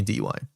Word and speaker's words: DY: Well, that's how you pronounce it spelled. It's the letter D and the letter Y.